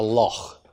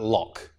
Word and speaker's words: loch: certain words, like a loch, a Scottish lake. And in fact, a lot of English speakers will pronounce that lock.